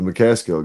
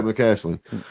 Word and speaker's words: McCaslin: It's similar to what you were just looking at, but it's the McCaskill guy, or excuse me, not McCaskill. What's his name? I keep pronouncing it wrong. Yeah, McCaslin. That's the one.